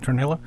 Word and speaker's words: Tornillo: Now, since Mark Tornillo, is that how you pronounce it? Tornillo? Yeah.